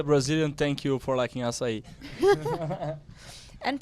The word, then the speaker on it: açaí: As a Brazilian, thank you for liking açaí. And pronouncing it correctly too.